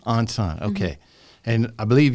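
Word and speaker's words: 안산: how do you pronounce that? Ansan. Ansan, okay.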